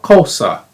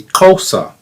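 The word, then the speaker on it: Xhosa: in South Africa called kosa. It's actually kosa. It's with a click. X h osa is how you spell it, but it's the x is a click.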